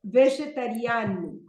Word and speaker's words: vegetariano: But here, the stress is on vegetariano. The fifth syllable.